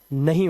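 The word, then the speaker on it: know: जैसे यहां पर एन से पहले के है तो इसे पढ़ते हैं नो। इसे कनो नहीं पढ़ना है।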